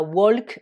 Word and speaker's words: walk: va se prononcer walked dans ce verbe vous avez la lettre L qui est muette on ne dit pas walk mais walk to walk home rentrer